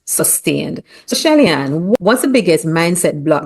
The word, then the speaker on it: Shelly-Ann: and advocate for economic freedom among Caribbean women, Shelly-Ann Aqui Solomon. I hope I pronounced your name properly, Shelly-Ann.